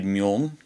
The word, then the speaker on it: Meaulnes: The book we're looking at today is Le Grand Meaulnes. I believe that's how it's pronounced. Le Grand Meaulnes. For a while I thought this was pronounced Le Grand Meaulnes. And it's definitely Meaulnes.